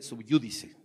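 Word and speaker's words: sub júdice: legal qué se llama se escribe sohu dice pero se lee subjúdice y cuando algo está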